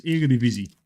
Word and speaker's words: Eredivisie: Luke has a very interesting pronunciation of that word. But it is Eredivisie.